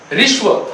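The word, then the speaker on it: ह्रस्व: उच्चारण करके देखो, ऋस्व, ह्स्व नहीं, ऋस्व, ऋस्व स्वर।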